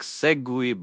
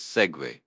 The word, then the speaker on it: segue: Sometimes the way a word looks is completely different from how it sounds. Take segue for example. Looks like segue, but it's segue.